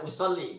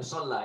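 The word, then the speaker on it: أُصَلِّي: Ana usolli itu usolli li ya. Itu harokat kasroh di bawah tasdid. Jadi membacanya usolli bukan usolla ini ya.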